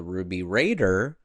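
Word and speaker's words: Ruby Radr: one of the elders then announces to the table that the ruby raider, that's how you say it, went missing from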